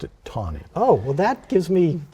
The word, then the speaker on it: Taney: roger b it's pronounced t-a-n-e-y i say tawny but other people say taney well my father sailed